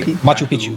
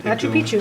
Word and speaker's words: Machu Picchu: Farber's class, if I'm pronouncing it correctly. Machu Picchu. Machu Picchu.